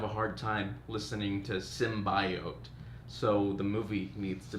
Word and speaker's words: symbiote: She's the only one that says symbiote. So I'm hoping that everybody else says symbiote. Because it's pretty much canon. The pronunciation is, at this point, canon. Symbiote. It's ridiculous. It's a dumb way to say that word.